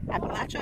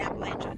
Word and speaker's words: Appalachia: Different parts of the Appalachia pronounce it differently. Appalachia and Appalachia, depending on if you're the southern or northern dialect.